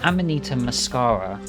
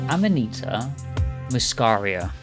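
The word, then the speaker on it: Amanita muscaria: look it up because I keep saying it wrong so Amanita mascara foreign I'm Anita muscaria I'm Anita muscaria sort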